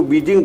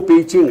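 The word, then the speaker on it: Beijing: तो पेइचिंग विश्वविद्यालय, मतलब जो पेइचिंग विश्वविद्यालय है उसको बीजिंग बोलते हैं, लेकिन उसके उच्चारण के अनुसार वो पेइचिंग है।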